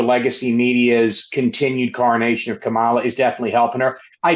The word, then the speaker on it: Kamala: All right, I'm going to turn you over to my colleagues, but first, as always, friendly reminder, it's Kamala, like the punctuation mark, Kamala.